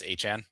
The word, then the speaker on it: Etienne: You definitely didn't see this cuz you're not on Twitter, but did you see that Travis Etienne said that his name is pronounced Travis Achane?